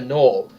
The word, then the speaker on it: gnoll: description, you use the gnoll's description. I pronounce it gnoll so people know how to spell it.